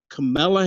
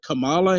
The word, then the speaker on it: Kamala: you can't if you don't say her name camilla harris and you say kamala harris or if you say camilla if you don't pronounce the name that they didn't want it